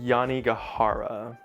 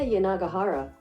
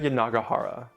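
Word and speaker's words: Yanagihara: And book number four is going to be A Little Life by Haneia Yani Gajara. I need to see if I'm pronouncing that correctly. Hia Yanagahara. Haneia Yanagahara.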